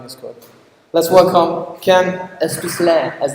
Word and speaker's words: Aspeslagh: Let's welcome Ken Aspeslagh, as it's supposed to be pronounced.